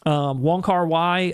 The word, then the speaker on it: Wong Kar-wai: Wong Kar-wai, I believe is how you say the director's name.